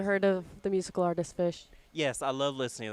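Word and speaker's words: Phish: First off, we're talking about Fish, the band, not necessarily fish that swims in the water, okay? And it's spelled P-H-I-S and S-H or something like that.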